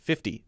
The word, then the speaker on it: fifty: d fifty fifty fifty in fact most people will say it with a light d sound fifty fifty or d sound there 50.